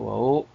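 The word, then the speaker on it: وَ: wayahsuruun ini wunnya yaitu wau wau atof wau harf atf mabni alal alfathi nah ini wunnya nya wau harf atau mamdi alal fatih. dibaca wa tidak boleh baca wi atau wu dia mam di al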